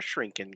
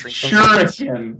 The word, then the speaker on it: shuriken: I always start my game by turning up my shrinking count. Yeah, definitely. How do we say that word? What, shrinking? Shrinking? It's shuriken.